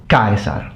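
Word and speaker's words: Caesar: during republican times but it was still a dip thong meaning that you had two distinct vowel sounds with the accent falling or the stress falling on the first vowel. So the pronunciation would become from iie to i. Kaisar.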